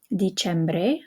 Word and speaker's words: Dicembre: Dicembre, okay, because the E is following the C, so it's a ch sound again.